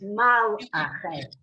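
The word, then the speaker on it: מלאכי: I am reminding you there's a shva under the lam, so it's mal. It's mal ache. The first syllable is mal. The shva, the silent vowel, closes the syllable.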